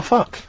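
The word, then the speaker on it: Fuk: F-U-K. That's how it's pronounced.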